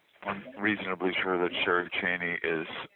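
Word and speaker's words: Chaney: It's kind of like it's spelled. You know, Cheney.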